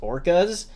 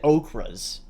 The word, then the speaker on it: orcas: So no, that apparently the narrator they had mispronounced orcas, and she said okras. like the food.